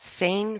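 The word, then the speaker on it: sainfoin: that are in Florida uh how do you spell that saying for s-a-i-n f o i n and they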